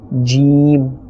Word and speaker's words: ج: And this is pronounced from the middle of the tongue and the middle of the palate. Jim.